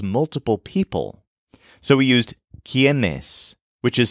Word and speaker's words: quiénes: So we used quiénes, which is spelled Q-U-I-E-N-E-S with an accent mark over the first E.